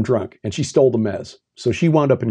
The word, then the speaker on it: Mes: It's spelled M-E-S. Looks like Mies, but it's Mez.